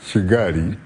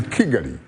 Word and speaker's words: Kigali: the republic of rwanda i was being advised to pronounce for example the rwandan capital of shigari as kigali and i couldn't so